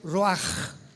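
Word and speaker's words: רוח: apunta la palabra espíritu del hebreo ru con ch se pronuncia roaj como con j.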